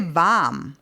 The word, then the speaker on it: warm: So first of all it's not said like ever and even not all the time this particular word like v most cases we will just say vam we won't even say the r particularly in Austria and